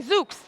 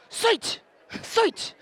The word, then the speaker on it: Szucs: your name I'd say Zuke's they said no Shh switch and so he made me learn how to pronounce my name in Hungarian but now when I